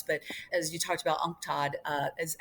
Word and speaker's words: UNCTAD: But I would say one of the most critical right now, not only critical for us, but as you talked about, UNCTAD, is how we pronounce it, which is the Commission for Trade and Development for the United Nations.